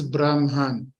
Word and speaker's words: Brahman: Ultimate Reality it is Brahman with n at the end like Nancy okay and when we